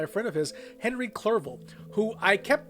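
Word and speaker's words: Clerval: to health by a friend of his Henry clerville who I kept mispronouncing as Henry Cavill for about six takes before this one Victor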